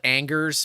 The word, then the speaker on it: Angers: Nick Anger is probably a good one to look for, but it's spelled Angers, but it's said Anger.